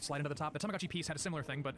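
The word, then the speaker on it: Tamagotchi P's: So for English speakers, it's pronounced like P. So Tamaguchi piece. Okay, so you know how the Tamago had little figurines that you could slide into the top. The Tamaguchi piece had a similar thing, but instead of a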